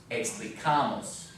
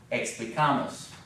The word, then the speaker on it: explicamos: Remember, this one gets a little bit different accent than the rest of them because it has a longer ending. Explicamos, right? Explicamos.